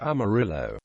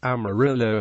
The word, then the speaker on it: Amarillo: and Shores early residents originally pronounced the city's name more similar to the Spanish pronunciation Mir Jo Army Rio